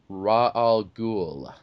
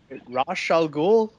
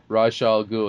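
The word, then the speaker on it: Ra's al Ghul: but yeah ra school it's Raj gou in the comics rashal gou rash rashal goul yeah cuz it's I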